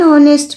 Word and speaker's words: honest: Like an honest man. H is silent because we don't say honest man or honest man.